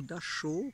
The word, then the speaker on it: Dachau: Je suis au camp de concentration à Dachau ou Dachau, comme on prononce en français.